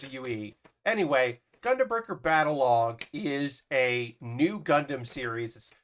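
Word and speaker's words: Battlog: calling it battle log it's spelled b-a-t-t-l-o-g so uh it should be like like it almost wants to be battle rogue uh but it's not battle rogue it's battle log but there's a e-u-e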